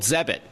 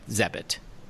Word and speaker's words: Zebit: So Zebit is spelled Zebit. I guess it rhymes with credit. Please tell us the premise behind Zebit.